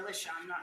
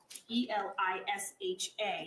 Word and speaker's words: Elisha: Or Alicia, I apologize. That's okay. I have trouble. It's Elisha. You're saying Alicia, but I've had pronunciations Alicia's from the family.